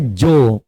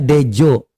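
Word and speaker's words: Djo: Kenapa ini ada DJ O? Itu bacanya jo. Bukan itu bukan bacanya dejo. Jo. Karena ini ejaan lama ini marga ya.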